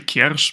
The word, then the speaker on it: Kiersz: It's actually Kiersz, but I wouldn't blame you for How not is it?